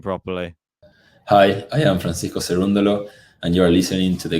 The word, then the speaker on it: Cerundolo: say his name properly hi hi i'm francisco cerundolo and you're listening to the game2lab podcast there